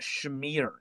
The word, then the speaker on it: schmear: I think it's pronounced schmear, Jason. Schmear. Who pronounces it like that? It Schmear. sounds Schmear, Colin. German.